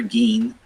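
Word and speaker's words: 銀: And like chu for middle, like it's most kanjis use that chu or pronounced chu. For metal, keen for silver, gin.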